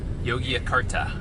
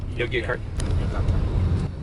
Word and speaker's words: Yogyakarta: told him the city yet because I can't pronounce it. So where are we going again? Yogyakarta, I think. Is that how you say it? How do you say it? Yeah. Yogyakarta.